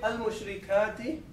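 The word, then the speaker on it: المشركات: Now, there is one interesting thing here, that when we say al-mushrikati, we pronounce this lam, okay? We say al.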